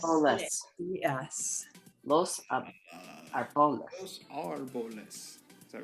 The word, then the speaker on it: árboles: It does not change the way the letter A sounds. What it means is you Los punch the syllable that A árboles. harder than the others.